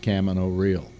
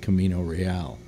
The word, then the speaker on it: Camino Real: he has a play called Camino Real it's pronounced cama no real not Camino Real and it is and it's an amazing abstract